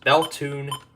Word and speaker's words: Bethune: Next is WWF 77 out of Bethune, Colorado. That's actually how it's pronounced. Beltune, Colorado.